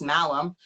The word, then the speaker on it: Malum: that can be like my name and it's malam and i was like okay i love that